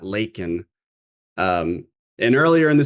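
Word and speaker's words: Laken: And then unfortunately, this was another one of the verbal flubs because he says Lincoln Riley. He says, I'll say her name, Lincoln, not Lakin.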